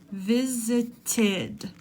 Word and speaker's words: visited: So we need to add id, which adds another syllable. Visited.